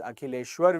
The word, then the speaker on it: Akileshwar: Okay, yes, I'm pronouncing the name correctly. It's Akileshwar V.